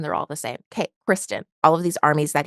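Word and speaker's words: Criston: over to the greens that Christian or that Christen sorry I know his name is Kristen I just I don't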